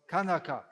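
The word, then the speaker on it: कनक: Kanaka. இது உங்களுக்கு தெரிந்த ஒரு வார்த்தை கனக. But just they pronounce with a g.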